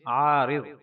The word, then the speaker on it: عارض: زیارت نہ کی ہو۔ تلفظ اور اعراب۔ عین پر زبر، الف کے ساتھ، را کے نیچے زیر اور ضاد پر جزم۔ عین الف زبر عا، را ضاد زیر رز، عارض۔ معنی۔ العارض کا معنی